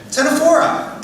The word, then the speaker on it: Ctenophora: The C is silent. I'll give you a hint. There, perfect. Ctenophora.